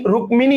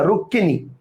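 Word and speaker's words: রুক্মিণী: হয় যেমন রুক্মিনি মানে যদিও এখানে আমরা ম যুক্ত করছি ক এর সাথে ম কিন্তু হিন্দিতে এটা রুক্মিনি উচ্চারণ হলেও বাংলায় কিন্তু আমরা বলি রুক্কিনি অর্থাৎ উচ্চারণ কিন্তু রুক্কি রুক্মিনি না রুক্কিনি কথা বুঝতে পারছেন কারণে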